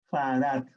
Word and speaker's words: farad: Farad. En honor ¿a quién? A Faraday, a Michael Faraday. En plural se escribe con la S. ¿Ok? Farad. No existen los faradios. Es farad.